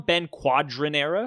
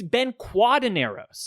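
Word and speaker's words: Ben Quadinaros: But you called it, did you call him Ben Quadrinos? Oh, is that not how you pronounce it? No, it's Ben Cuadineros.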